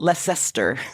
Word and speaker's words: Leicester: for our American friends it's spelled Lester Lester that's right Lester and uh leester city